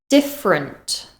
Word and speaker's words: different: Different, different. Again, that final syllable is unstressed and it becomes a weak sound.